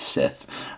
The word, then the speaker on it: Scythe: the ghost Sith guys I said it wrong in the beginning I think that's Sith um I'm I'm